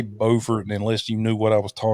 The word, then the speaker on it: Beaufort: basically a little town called Beaufort, which South Mhm. Carolina has the same town, except they call it Beaufort. We call ours Beaufort, spelled the same, different pronunciation.